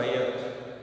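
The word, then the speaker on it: ryot: ये जो रैयत वर्ड था मुगल के समय जो यूज़ होता था, कि रैयत या जो भी उसको प्रोनाउंस करें, यही वर्ड है रियोत.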